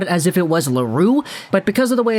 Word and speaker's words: L'Heureux: he is from quebec i'm going to go out there and just say laurel for this video so i don't want to see anybody in the comments saying oh lego you're pronouncing his name wrong it should be larue okay today we're talking